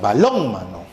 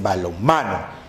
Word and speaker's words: balonmano: El acento está en ma, ya no en lon, sino diríamos balónmano. Y es balonmano.